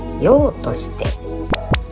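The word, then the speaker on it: 杳として: 正解は、用として。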